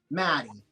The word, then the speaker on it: Matty: there by the way I must say your name right or Marty Maddie yeah you're saying it right yeah okay yeah my